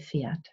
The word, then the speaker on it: Pferd: I say Pferd. I really use a deep schwa there.